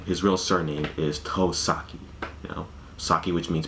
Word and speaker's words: Tosaki: manga would always get the kanji of his name wrong like his real name his real surname is toh sake you know sake which means plain too japanese